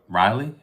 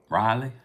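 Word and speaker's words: Raleigh: Carolina I'm in uh Riley is how you pronounce it right Riley stay tuned look we're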